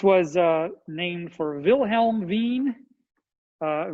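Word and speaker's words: Wien: uh named for wilhelm veen uh veen i think was a german or austrian or some some central european so that the w is pronounced with a v veen's law he won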